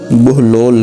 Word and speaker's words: بہلول: سے واقف ہوں گے۔ بہلول کی بے پر پیش اور ہا پر جزم ہے، جس کی وجہ سے آپ کا اصل تلفظ بہلول ہے، جس کے معنی